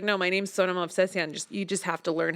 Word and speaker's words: Sona Movsesian: for you it was like no my name's Sonoma Obsession you just have to learn how to pronounce it and I I think that I